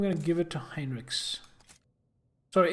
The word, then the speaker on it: Heinrich: Maybe they pronounced it like that in the game, but that's wrong. It's not Heinrich, it's Heinrich.